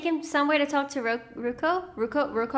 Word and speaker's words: Roku: You're Avatar Roku's animal guy. Oh, so he's like the Appa for the Fire Nation for the old Avatar. That's so cool! Is he gonna take him somewhere to talk to Roku?